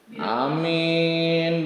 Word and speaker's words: amin: Jadi panjang alifnya, ringan mimnya. Maksudnya mimnya nggak pakai tasdid. Jadi bacanya amin. Jadi gitu baca. Yang pertama wasaniyatu, yang kedua bil qasri, pendek katanya alifnya. Amin berarti amin, mimnya pendek. Iya, wasaniyatu yang kedua bil qasri dengan pendek baca alifnya, pendek alifnya. Jadi amin. Amin berarti bacanya gitu. A-nya pendek amin.